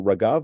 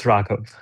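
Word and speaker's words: Raghav: there Raav are you Raav or Ragav your name that was going to be my statement. Hey everyone, uh Amy, you are just wonderful with your knowledge of cultures and greetings and name pronunciations. It's the latter. It's Ragav. Ragav.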